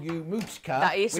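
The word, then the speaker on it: Moochka: were little your granddad used to call you mooshka that is right a little cow baby and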